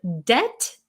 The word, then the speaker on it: debt: It's different from the word debt, where you owe people money, D-E-B-T. That word, the T is silent.